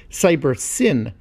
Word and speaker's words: Cybersyn: the system was termed cyber sign or perhaps more accurately should be pronounced cyber sin as it stood for cybernetic synthesis in this case the